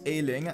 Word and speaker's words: Ayling: have been complaining that i've been pronouncing luke ayling's name completely wrong well i fixed that for you guys it's ailing i get it now